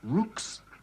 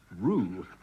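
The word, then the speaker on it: roux: make up a basic Rue which is spelled rux like Rooks but is pronounced Rue by the way this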